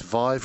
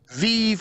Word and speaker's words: Vive: Vive rhymes with five, as opposed to Vive, which is what I have been saying, which is wrong.